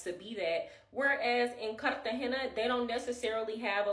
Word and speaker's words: Cartagena: For example, a paisa will say Cartagena, and people from Cartagena don't pronounce their R's as much as paisas do. They'll say Cartagena, like without the R.